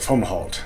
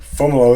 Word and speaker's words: Fomalhaut: it as a child i called it foam halt which isn't even correct for how it's spelled in english so fomolo is correct it's a brightest star